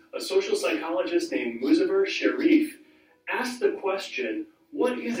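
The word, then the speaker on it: Sherif: What's really interesting about this is this Sharif, it's pronounced Sharif Camp study, and I'm going to show you a video about this study that proves this theory.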